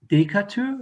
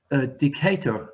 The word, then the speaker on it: Decatur: That was a sweet girl of Decatur, it's called? No, it's not. If you look at the second line, it must rhyme. Oh, yes, yeah. Decatur.